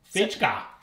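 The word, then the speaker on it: Fejka: This one is called the, I'm not even going to try to pronounce it. Landskrona? F-E-J-K-A. Fichka.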